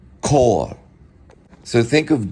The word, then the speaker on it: Chor: So the C can be pronounced as a K, like in choir. They would say Chor.